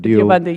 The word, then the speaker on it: Deobandi: Or how am I supposed to pronounce that? Deobandi, yes.